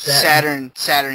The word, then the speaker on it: Saturn: It's Saturn, goddammit.